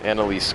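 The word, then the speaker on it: Annalise: or something not Arad not yeah um Analise Analise Queen of the vile Bloods that's her name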